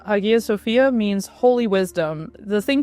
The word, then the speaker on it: Hagia Sophia: what I would call Hagia Sophia, but is my pronunciation abysmal? How should we say the name of the building? I say that's a perfectly fine pronunciation. I usually say Hagia Sophia and the thing is